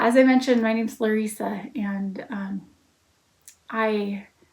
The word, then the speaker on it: Lesa: I mentioned, my name's Lesa and um I it gets mispronounced a lot. So, if you happen to see my name on my social media channels or something, I respond to Lissa, too.